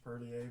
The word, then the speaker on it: Parlier: at we are in a little town called parlier about a half hour south of fresno and park it's actually a french perlier but it's uh gotcha i've seen it on i never knew how to pronounce i've seen it going south on the